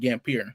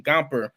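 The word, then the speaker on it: Gampr: I didn't know how to say it. I almost said Gampier, but the Gomper, you talked about it on Instagram.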